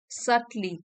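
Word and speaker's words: subtly: undermine you while others might सली बी यहां पे साइलेंट है सटली सटल से बना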